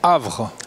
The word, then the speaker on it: Havr: de la société alors comment est-ce qu'on prononce havre à ça comme la ville du havre mais sans le à la fin sans le voilà c'est donc ch avait à rbr et alors on va tout